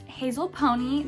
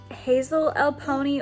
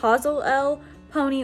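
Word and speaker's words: Hazelelponi: the next time i have on here is hazel pony this hey guys currently editing this video and i'm embarrassed it's pronounced hazel l pony or hazel l pony i said hazel pony that's not right it's hazel l pony or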